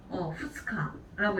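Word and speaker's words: 二日: 후츠카라고 읽게 되죠. 자, 그럼 우리 3일은 뭐라고 하죠? 밑가라고 읽게 되죠.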